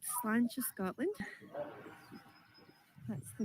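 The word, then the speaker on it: Slàinte: So we're called Slanch of Scotland. That's the name of our company. So Slanch, which means cheers in Gaelic. And I'll just spell that for you guys. For you, Joe, it's SLAINTE.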